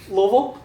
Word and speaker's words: Louisville: Louisville, Kentucky, Yeah. but we were making fun of the pronunciation of Louisville.